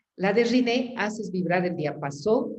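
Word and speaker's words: Rinne: No entendió muy bien el test de Renier y el test de Swatch o no me acuerdo cómo se pronuncia. Y el test de ¿qué? El test de ¿qué? De Riné.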